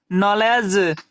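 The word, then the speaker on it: knowledge: इसे हम क्या पढ़ेंगे नॉलेज उसी प्रकार की एनओसी के साथ एन है हमारा तो के साथ एन रहेगा तो वहां की क्या उच्चारण नहीं करते हैं तो के को यहां छोड़ देना है और एन और सी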